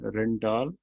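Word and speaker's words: Rijndael: Advance encryption standard को जो इसका ओरिजिनल नाम है वो रेंडियल है। ये डच प्रोनाउंसिएशन है, रेंडाल।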